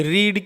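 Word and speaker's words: read: को एक होती है लेकिन इसका जो प्रनंसीएशन है वह फर्स्ट फॉर्म में रीड होता है और से कंफर्म और थर्ड फॉर्म में होता है रेड तो इसलिए बच्चों इसको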